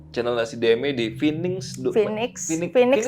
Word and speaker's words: Finnigs: Phoenix dikasih sih bacanya sih. Phoenix itu burung mitik gitu loh. Tulisannya F-I-N-I-G-S. Phoenix.